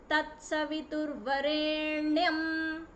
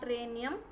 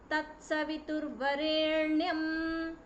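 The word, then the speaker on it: तत्सवितुर्वरेण्यम्: Okay, so if you take it simply, Om Bhur, not Bhur, Bhur Bhuvaswaha, not Bhuvaswaha, Tatsaviturvarenyam, not Renyam, Tatsaviturvarenyam, Bhargo, not Ba, Bhargo Devasya Dhimahi, it is Dhimahi, Dhiyo, Dhiyo Yonah, Yonah Prachodayat.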